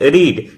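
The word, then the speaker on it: read: पढ़ना का इंग्लिश होता है रीड। रीड का थर्ड फॉर्म होता है रीड रेड रेड स्पेलिंग वही रहेगा प्रोनंसिएशन चेंज रहेगा खेलना का इंग्लिश होता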